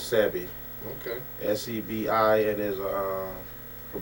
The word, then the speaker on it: Sebi: Once again, his name is Sebi. That's what it is, Sebi.